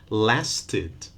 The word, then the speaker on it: lasted: So last, it ends in t. So the final ed will sound id or id with an extra syllable. Last has one syllable, lasted, two.